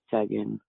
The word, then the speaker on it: Duggan: And just so I have this right, is your last name pronounced Duggan? Yeah, it's Duggan.